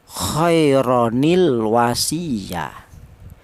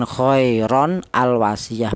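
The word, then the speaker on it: خيرًا الوصية: Jadi cara bacanya khaironil wasiyah, bukan khairon al wasiyah, bukan. Cara bacanya yang benar khaironil wasiyah, bukan khairon ya, tapi khairo, harokat fathah biasa, khaironil wasiyah.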